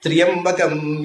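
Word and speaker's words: ತ್ರ್ಯಂಬಕಂ: ಸೊ ಶಬ್ದ ತ್ರಿಯಂಬಕ ಅಲ್ಲ, ಅದು ತ್ರ್ಯಂಬಕ. ಆ ತ್ರಿಯ ಅನ್ನುವಲ್ಲಿ ಯಾ ಅನ್ನೋದು ಕ್ಷೈಪ್ರ ಅಕ್ಷರ, ಆದ್ದರಿಂದ ಅದನ್ನು ಸ್ವಲ್ಪ ಸ್ಲೋ ಮಾಡಿ 2 ಅಕ್ಷರದ ಹಾಗೆ ಉಚ್ಚಾರ ಮಾಡಿ. ಇದು ವೇದಿಕ್ ಗ್ರಾಮರ್, ಅದರಿಂದ ತ್ರಿಯಂಬಕಂ ಅಂತ.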